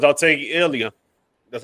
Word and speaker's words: Ilia: Um, for $3, I'll take Ilia. That's how you pronounce his name. Toria. Ilia.